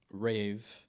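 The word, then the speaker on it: RAV3: My my original idea was that um rave that's how you actually pronounce RAV 3.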